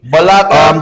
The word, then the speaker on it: Bologna: Bologna Tomorrow is and very interesting.